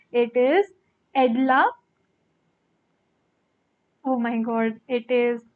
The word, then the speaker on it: Edla: It is Edla. Oh my god, it is Edla Wilmanson, right? That is how they spell it.